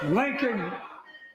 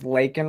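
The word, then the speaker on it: Laken: her name so here Lincoln Lincoln Riley an innocent young woman who was killed by an illegal so one obviously her name's lakan Riley um also got him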